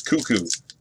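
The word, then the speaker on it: Koekkoek: All right, so it's Cuckoo. Slater Cuckoo for Tampa. Doesn't look like Cuckoo, but it's Cuckoo, apparently.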